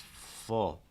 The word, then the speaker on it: full: first word f f it's not for it's full full um for this sound